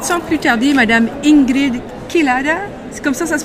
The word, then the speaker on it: Kelada: Alors, je vous présente sans plus tarder Madame Ingrid Kelada. C'est comme ça se prononce? Exact, Kelada.